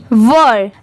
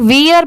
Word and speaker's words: were: यहाँ पर बहुत सारे लोग इसमें मिस्टेक करते हैं, इससे बहुत सारे लोग वियर पढ़ते हैं। ठीक है, बट वो रॉन्ग होता है। इसकी करेक्ट प्रोनाउंसिएशन है वर। आप भी मेरे बाद रिपीट करिए वर। यहाँ पर WERE, इसे वर पढ़ा जाता है।